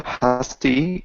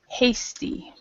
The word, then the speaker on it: hasty: these three words uh husty impulsive Rush okay for this word it's actually pronounced Hasty Hasty Hasty impulsive and rash and